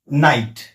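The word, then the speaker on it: knight: त्यामुळे ते सायलंट आहे दुसरा नियम आहे एन पूर्वी जर के आल असेल तर ते के सायलेंट असत जस की नाईट spelling K एन आय जी एचटी असलं सुरुवातीला के असलं तरी के सायलेंट आहे याचा उच्चार होतो नाईट नक नॉलेज तिसरा नियमडी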